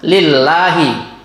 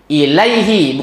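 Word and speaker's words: إِلَيْهِ: Jadi yang tepatnya Bapak Ibu, inna lillahi, lainnya panjang ya. Wa inna ilaihi, ilaihi, bukan lillah lagi yang keduanya.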